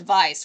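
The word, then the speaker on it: Weisz: I'm a I'm a huge Rachel Vice. Uh W I S Z. It's pronounced Vice.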